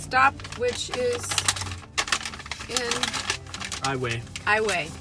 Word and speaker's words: Iowa: which is in highway i way not iowa because that's a state highway is a city in